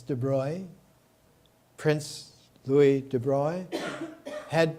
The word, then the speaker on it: de Broglie: of the attendees louie i used to pronounce it de broglie it's de bruy prince louis de broy